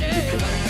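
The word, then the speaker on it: Tipe-X: Bukan Tipex sih, bacanya Tipex.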